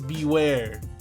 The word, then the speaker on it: Bewear: All right, so obviously the freaking name, its name is Beware, and Beware is spelled E A R. So, it's like bear with with ew in there. So, it's beware instead of bear.